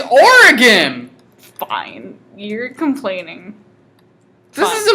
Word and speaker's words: Oregon: Wisconsin pronounced Oregon like Oregon it's or again fine you're complaining that